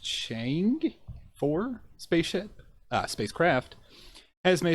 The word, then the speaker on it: Chang'e-4: So China's, I believe it's pronounced Chang'e-4 spacecraft has made its descent from lunar orbit